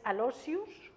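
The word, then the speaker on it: Aloysius: Alo es la forma latina de un nombre que no se dice Alo. Es Alosius, que es Luis, San Luis Gonzaga.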